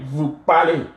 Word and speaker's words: parlez: Vous parlez. Easy is always pronounced A in French. Vous parlez.